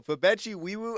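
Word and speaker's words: Febechi Nwaiwu: the 2026 NFL Draft, the Houston Texans select Fabechi Wiwu, guard from Oklahoma. Ah, they got a dog right there, bro. Fabechi Wiwu. Oh, snap. She's going crazy with that bull. Oh, snap. Yo, Fabechi Wiwu.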